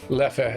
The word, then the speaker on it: Leffe: Leffe is how I say it.